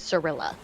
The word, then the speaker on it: Cirilla: no idea the pronunciation for siri's name is cirilla yeah next the full pronunciation yeah time is coming up by the